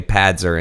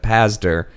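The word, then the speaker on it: Pazder: I keep wanting to pronounce his name backwards and say Padzer instead of Pazdar, but I get the impression that Dr.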